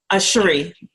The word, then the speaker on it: Cheree: Do you pronounce it Cheree? Cheree.